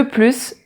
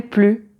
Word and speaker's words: plus: je ne me rappelle plus ou je ne me souviens plus ou je n'en peux plus. Et dans ces trois phrases, le S est muet, on ne le prononce pas.